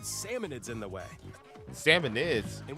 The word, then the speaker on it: Salmonids: But there's a bunch of aggressive creatures called salmonids in the way. Salmonids? And when you get too I thought close, it was they'll salmonoids.